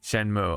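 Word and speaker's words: Shenmue: it's not Shu oh shenu shenu yeah yeah shenmu oh man that's it's not going to it's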